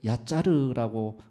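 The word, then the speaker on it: יצר: 선한대로 다른 것을 만들었습니다 토기장애의 원어는 우리말 얄짤 없다 할 때 야자르라고 발음이 됩니다 야자르라는 것은 형체를 짓다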